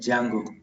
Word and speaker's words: Django: D is silent, Django.